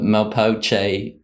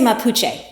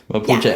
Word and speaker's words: Mapuche: around why haven't the malpoche i hope i've pronounced that correctly jennifer i don't know if you could help me out there we would say mapuche mapuche almost almost my spanish class